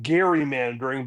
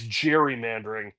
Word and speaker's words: gerrymandering: and hence I guess technically we should call it gerrymandering but in the common parliament of today it's gerrymandering. The G has gone from being hard a hard G to a soft G.